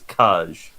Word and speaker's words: Cage: but as he's a french man the official pronunciation of his name is caj fair fair bear let me have my let